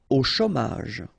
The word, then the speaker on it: au chômage: Au chômage. Remember, CH together. Ch.